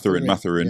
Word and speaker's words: Mathurin: How do you pronounce his name? Is that Mathurin? Mathurin.